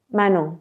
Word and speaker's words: Manon: Have you danced, how do you say, Manon or Manon? Manon.